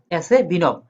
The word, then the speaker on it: Asebinov: এটি হলো কি এই সূত্রটা কি উচ্চারণ এভাবে, যে আমরা তো পড়েছিলাম যে ASEBINOV, তো এটার একসাথে উচ্চারণ করলে কি হয় এসে বিনভ।